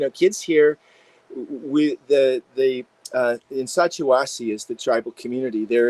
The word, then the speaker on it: Sacha Wasi: But kids here, we the in Sacha Wasi is the tribal community. There are I'm two so rivers. I'm so glad you pronounced that before I had to.